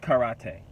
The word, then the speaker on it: karate: this video with a disclaimer I know it's pronounced karate I am aware of this fact I am